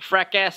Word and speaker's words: fracas: right and then the second thing is it's pronounced fracas oh it's bright yes yes what else practice